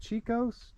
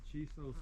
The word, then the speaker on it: Chisos: And then we have, how do you say this? Chicos? Those are the Chisos Mountains.